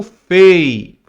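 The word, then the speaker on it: פ: O Pei sem o ponto, você lê como Fei, Fei, que seria o PH. Antigamente na nossa língua portuguesa, nós falávamos farmácia com PH. Escrevia PH, ok? Mas se lê farmácia.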